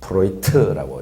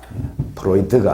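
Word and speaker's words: Freud: 독일계이기 때문에 D 발음을 트로 합니다. 그래서 프로이트라고 읽으면 됩니다. 프로이드가 아니고 프로이트.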